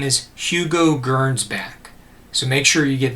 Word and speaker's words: Gernsback: science fiction a label his name is hugo gernsbach so make sure you get this into your notes his name is spelled h-u-g-o hugo gernsbach g-e-r-n-s b-a-c-k and hugo german's back was born